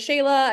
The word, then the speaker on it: Shelagh: myself some street cred my name is Shayla I know it doesn't look anything like that that's why I always